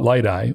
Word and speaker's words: Liteye: hope you enjoyed hearing from Ken Geyer of light I systems I want to thank Ken for taking the time to speak with me if you want to learn more about light I or want to connect with Ken check out